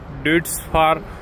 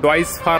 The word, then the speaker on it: Deutz-Fahr: घेतली असेल परंतु महाराष्ट्रामध्ये या ड्यूट्स फॉर ऍक्च्युली याचं ओरिजनल प्रोनाउन्सिएशन डॉइस फार असा आहे जर्मन जर्मन ब्रँड आहे जर्मनीची कंपनी आहे आणि त्याचं खरं प्रोनाउन्सिएशन हे डॉईस फार असं आहे पण स्पेलिंग नुसार आपण याला ड्युट्स फारच म्हणू तर का हा ट्रॅक्टर